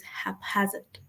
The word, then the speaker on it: haphazard: I'm not saying this because of people that said it, but the correct pronunciation is haphazard. Is haphazard. So it's hap plus hazard.